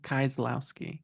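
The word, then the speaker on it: Kieślowski: different than what we watched this week, which of course was I'm gonna say his last name wrong. Is it you say it? Like Kozlowski? Kieslowski? Kieslowski.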